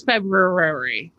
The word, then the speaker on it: February: it cracks me up when people pronounce the R. It's a silent R. This is common knowledge in the English language. There are so many silent R's. Nope. Okay. It's fine. It's February.